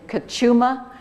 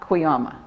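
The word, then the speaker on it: Cuyama: the the sewer system system in Kuma not quama so that I'd like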